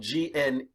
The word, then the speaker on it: gneiss: Okay, but it's spelled Gneiss, I think, but don't trust my spelling, please. Okay, but this is gneiss.